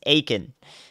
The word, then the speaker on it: Aiken: guys I've got to be better at this Aiken got it you guys have got you've got to learn how to spell out pronunciations to the best of your ability so